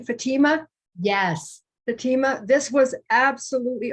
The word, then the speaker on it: Fatima: Fatima?